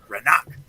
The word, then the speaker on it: Renach: The H is silent, right? Yes, but you got to make it sound like he's a Viking. Renach. Renak.